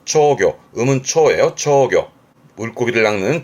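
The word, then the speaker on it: 釣魚: 발음은 초교.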